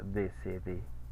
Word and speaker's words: décédé: Y tenemos la E con acento que sí se pronuncia, décédé.